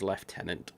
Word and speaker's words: Lieutenant: in England we say we pronounce Lieutenant as left tenant I don't know why